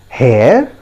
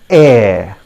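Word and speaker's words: heir: h e i r friends remember we don't pronounce it as hair as many of us do that what's our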